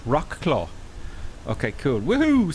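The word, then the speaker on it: Wrocław: got a rock law Rock law equals War clothes is pronounced Rock claw okay cool woohoo says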